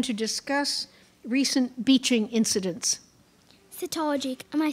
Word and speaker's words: cetology: Cetology, am I saying it correctly?